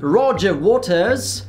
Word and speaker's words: Roger Waters: Há alguns dias veio aí Roger Waters, sim, essa é a pronúncia inglesa, e segundo a direita